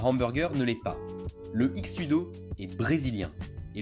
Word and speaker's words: X-Tudo: Le X-Tudo est brésilien, et le X dans le nom se prononce cheese, vient de l'approximation portugaise du mot anglais cheese, donc équivaut approximativement à fromage, tout cela étant une description précise.